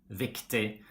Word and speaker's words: viktig: We don't pronounce the G when it's in a combination with I, like for example, billig, riktig, viktig.